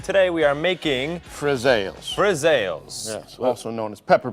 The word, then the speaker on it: friselle: And one more time so we can all get the pronunciation correctly. Today we are making Friselles. Friselles.